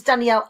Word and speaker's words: Danielle: do that my name's danielle ah there's a whole there's like a whole syllable at the end of my name and i found it